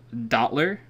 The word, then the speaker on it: Dottler: guys to look up Dottler. He is my new favorite. How do you spell that? D-O-T-T-L-E-R. D-O-T-T-L-E-R. Oh wow! Oh wow! Literally how it sounds.